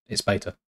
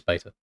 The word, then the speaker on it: Beta: But it's not pronounced beta anyway, Rockwood. It's beta. It's not even an American or versus English thing. It is beta.